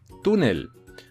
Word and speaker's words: túnel: Túnel, túnel, tun, bueno, mejor dicho, tú es la sílaba tónica. Es una palabra llana, ¿por qué? Porque la sílaba tónica tú está en penúltimo lugar y además, como no acaba ni en vocal, ni en N, ni en S, le ponemos la tilde en la U.